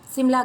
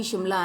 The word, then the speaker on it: Shimla: When you are reaching Kufri near Simla, you will see that Simla can be Shimla and Simla both. Okay, you can pronounce it either ways.